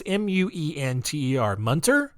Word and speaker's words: Muenter: It's Muenter. Munter?